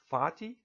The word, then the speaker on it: Fatih: Charles Community College well the first remark is about my name f8 eih pronounced as Fatih and this might be